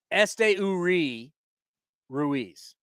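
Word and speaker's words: Esteury Ruiz: playing center field hey in the pronunciation guide it's Este URI Ruiz yes Este URI Ruiz uh but the way he says I'm going at we're going to SD is like a nickname uh and caps on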